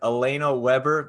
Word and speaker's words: Alaina Webber: Well, I'm here with Alaina Weber. Did I get the name pronounced right?